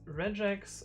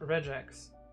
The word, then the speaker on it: regex: It's regex, not regex.